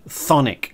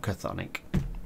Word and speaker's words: Chthonic: CHTHONIC, I knew I'd say it wrong eventually. Thonic, it's not CHTHONIC.